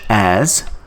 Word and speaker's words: et: The word and in French, it is called eta. A. We don't pronounce T.